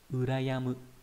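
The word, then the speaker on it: 羨む: về cách đọc âm cương, đó là Uyama, đọc là Uyama mang nghĩa là kính trọng, và từ Urayamu.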